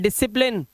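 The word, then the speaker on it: discipline: सी silent science, सी silent seizures, ठीक है, सी silent डिसिप्लिन, सी silent muscles, सी silent, scene.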